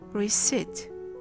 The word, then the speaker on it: receipt: The same thing happens with the nasal N in pneumonia, and the same thing happens with the stop sound T in receipt.